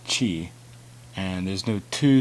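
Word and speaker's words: ち: toll again there's exceptions there's no t sound its chi and there's no to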